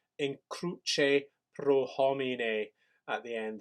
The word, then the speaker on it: cruce: And the pronunciation here is in cruce, please, a ch sound, in cruce pro homine at the end there, please, bases.